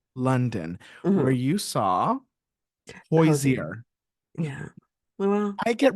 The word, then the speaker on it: Hozier: you saw Hosier. Hozier. Yeah. Well, I get requests on the street to say Hozier.